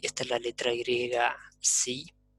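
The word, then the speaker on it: psi: Esta sería sí, esta es la letra griega sí, esa P por ahí es muda, pero yo la pronuncio, que nos da la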